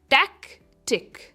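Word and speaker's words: tactic: कहते हो सैबोटार्ज next on the list is टैक टिक टैिक टैक पर इसका स्ट्रेस है टैक्टिक ये काफी आसान है प्रोनाउंस करने में इट इज़ टैक्टिक टैक्टिक यानी रणनीमती या चाल अ प्लंड एक्शन और स्ट्रेटजी।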